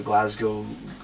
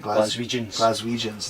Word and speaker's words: Glaswegians: And I know what it's going to be like tonight because the Glasgowians, how do you pronounce that? Glaswegians, there you go.